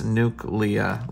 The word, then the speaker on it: Nukeleah: everything, I was like, oh, it's Nukeleah, like nuclear. All right, so here we go.